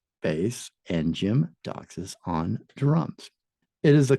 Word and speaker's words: Doxas: And Jim Doxas. Jim Doxas. Doxas. Okay, that one's exactly how it sounds.